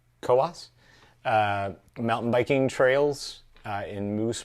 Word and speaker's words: Coos: getting this right but it's called the koas i think that's right it looks like it's spelled coos but it's koas mountain biking trails in